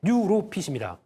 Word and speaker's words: 뉴로핏: 뉴로핏입니다. 네. 뉴예요. NEW 뉴.